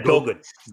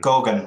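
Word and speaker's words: Goguen: I think it's part of the Corguan roadmap. I'm not sure how you pronounce that word. Yeah, Gauguin. Gauguin, right, Gauguin.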